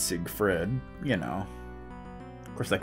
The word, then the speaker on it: Siegfried: with no ii II so it's not sick fried it's Siegfried you know of course